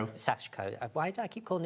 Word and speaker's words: sashiko: So for instance, if you're doing your um you can pronounce I can't. Shashiko. Aashiko. Sashiko.